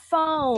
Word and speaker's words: phone: PH bunyinya juga sama dengan F. Contohnya, phone.